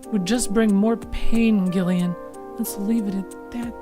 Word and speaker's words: Gillian: to do with Snatchers gillian 'he's name is pronounced with a hard G yet the dude's name